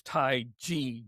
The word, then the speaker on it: Taiji: Proper pronunciation is Taiji, J-I or G-I, G, like G.